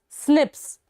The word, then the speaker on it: SNP: based DNA difference snps single nucleotide polymorphism pronounced as Snips occur in human this